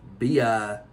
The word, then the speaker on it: Biwa: It's spelled B-I-W-A, I believe. Yeah. But it's pronounced Biwa.